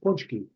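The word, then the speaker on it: pączki: And so explain to me what's a potchki, what's the It's a Polish word. It's pronounced punchki. puchki, there it is.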